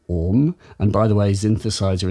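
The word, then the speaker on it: AUM: So Orm, A-U-M, Orm.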